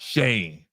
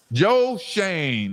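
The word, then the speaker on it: Schoen: And it's pronounced Shane. Joe. Joe Shane.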